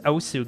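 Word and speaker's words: osu!: It's pronounced Osu, guys.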